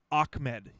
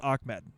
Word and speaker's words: Ahmed: washington husky fan i actually know it's actually ahmed so i know it's i know it's a-h-m-e-m-e-d it's pronounced ahmed so thank you thank you for fixing on